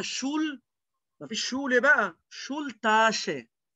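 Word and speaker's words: Schultasche: ما فيش شول بقى، شول تاشي. طب ايه بقى موضوع ش؟ لان انت عارف ان الاس تسي ها بتتنطق كأنك بتقول لحد ش، شول تاشي، شول تاشي.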